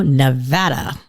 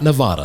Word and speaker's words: Nevada: So all of you listening out there, we're at Reno, Nevada. We got to make sure we pronounce that right. It's not Nevada.